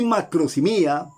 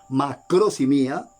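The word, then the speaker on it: μακροθυμία: con las personas, y es la palabra griega macrosimia. Paciencia, que significa paciencia. Algunas veces se traduce también en nuestras Biblias castellano, longanimidad. Y aquí macrosimia, sí, así como lo oye, macrosimia, así se pronuncia, viene de macros, grande, extenso, largo, y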